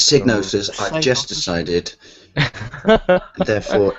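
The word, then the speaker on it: Psygnosis: It was like, how can it be Signosis? It starts with a P. You don't pronounce it, you just say that one with the owl.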